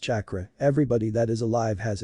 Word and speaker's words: chakra: find out do you know what chakra is Katra Naruto was very excited if this Katra thing